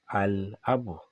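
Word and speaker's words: الأب: For instance, al-abu, you can see that the lam is pronounced.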